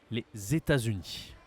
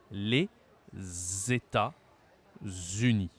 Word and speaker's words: les États-Unis: mot et le deuxème les États-Unis les États-Unis il faut bien que tu fasses un Z d'accord pas les États-Unis non les États-Unis d'accord un deuxième pays